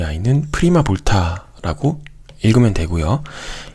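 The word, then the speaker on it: prima volta: 그래서 1이라고 써져 있는 이 아이는 프리마 볼타라고 읽으면 되고요.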